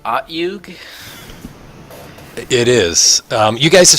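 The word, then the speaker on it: Otyugh: Is that pronounced Otyug?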